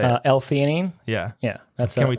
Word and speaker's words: alanine: it you're tell me how to say it alanine yeah yeah that's can we talk about that